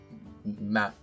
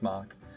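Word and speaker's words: Mack: And then Big M rides Mock. Almost said Mac. That's not how you say it. It's Mock. At least I think it is.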